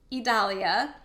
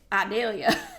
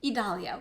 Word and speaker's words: Idalia: I had to look it up because I'm from the deep south, and in Georgia, we have a city called Vidalia. So in my head, I was calling it Idalia. It is Idalia, which is lovely.